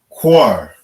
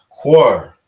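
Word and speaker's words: קר: So we pronounce it Quar. Quar. All right. That's how you say cold in the Hebrew.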